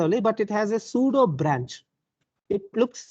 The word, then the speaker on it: pseudo: P is silent.